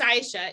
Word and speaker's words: Aisha: So why I pronounce my name Aisha, it is Aisha, is because not one of my teachers, I